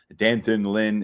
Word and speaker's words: D'Anton Lynn: with focus on Penn State's next defensive coordinator, Dantin Lynn. I know we've given you a few different pronunciations for his name. Danton Lynn is what we're going with right now because